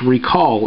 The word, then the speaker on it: reQall: impressive and pretty inclusive it's recall and it's spelled with a q r EQ a l so uh or a l l rather uh definitely check it